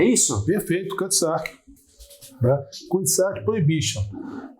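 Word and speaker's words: Cutty Sark: esse uísque, que como é que é a pronúncia? Cutty-Sark, é isso? Perfeito, Cutty-Sark.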